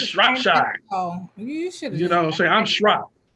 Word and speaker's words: Shropshire: Kenneth Hudson, for mispronouncing my name, Swapshire. It's Shropshire.